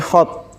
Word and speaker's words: god: Ketika diterjemahan dalam bahasa Belanda misalnya god jadinya god bacanya bukan god tapi hot karena G di Belanda itu eh ha kayak H hot iya k apa khot ya saya saya lupanya k pendek atau hot gitu saya lupa.